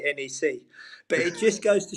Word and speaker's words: NEC: saying to you, James, I'm not going to use the correct Dutch pronunciation like you do. I'm just going to take it easy and say NEC.